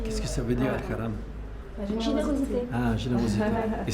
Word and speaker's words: Al Karam: Qu'est-ce que ça veut dire Al-Karam? La générosité. Ah, générosité. Et c'est Haram ou Karam? Karam. Karam. C'est Ah, c'est le cas, ça. Karam. El-Karam. Oui, Al-Karam.